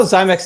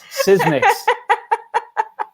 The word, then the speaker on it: Sysmex: I saw Zymex in the chat. So Zymex. Tell me if I'm saying it wrong. I think Ode got it right. It's Sysmix. Unless Ode is trolling us.